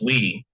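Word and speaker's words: oui: And while that means we, it's pronounced we, but the word means yes.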